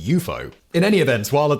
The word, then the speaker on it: UFO: if less colorful name unidentified flying objects eupo for short and yes you heard that right we've all been saying UFO wrong according to the coiner